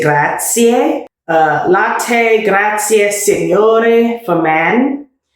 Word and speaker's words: grazie: Do pronounce the E at the ends of Italian words. So for instance, I said latte. When you say thank you, you say grazie.